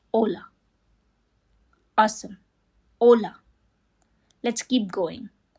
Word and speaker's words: hola: It's important to note that H in Spanish is always silent. No exceptions. So, we don't say hola. It's just hola.